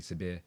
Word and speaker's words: Sabir: Young man, my name obviously Sabir or Sabir if you can pronounce it.